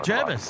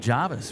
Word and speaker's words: Jervis: Jenz says with an E, never an A. You'd run out of town. You'd run out of town pronouncing it with an avis. Say Jervis.